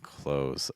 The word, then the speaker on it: clothes: A lot of times it's just pronounced like the verb close, like close the window, close the door, or I'm wearing clothes.